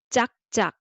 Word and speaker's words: 짝: Clap sound is you say clap, but Koreans hear this way. This is 짝. Okay, 짝. So it's the same syllable doubled. So 짝.